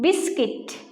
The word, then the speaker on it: biscuit: Biscuit. U is silent.